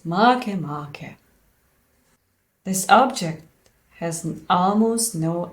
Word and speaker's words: Makemake: It's not Makemake, as it would be convenient for us. It was named after an Easter Island creator god, so why would it be convenient for us to pronounce it? It should be pronounced as Makemake.